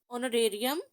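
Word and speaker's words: honorary: वो H silent है, इन सब के साथ जो है वो एच जो है वो साइलेंट है, इसलिए ऑनरेरियम, ऑनरेरी, ऑनरेबल, इन सब में ओ का साउंड जो है वो एच को स्किप करके उसे साइलेंट करके तो ओ का साउंड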